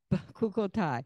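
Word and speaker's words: Bechukotai: BeChukkotal.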